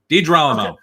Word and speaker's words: DiGerolamo: In the house this evening, I have DiGerolamo. Did I pronounce that correctly? Yeah, it's close enough. DiGerolamo.